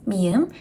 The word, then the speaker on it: 미음: This is 미음. It sounds M. M sound like a moth.